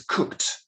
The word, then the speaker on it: cooked: a separate syllable so it's not cook it's cooked one syllable two it's not lovely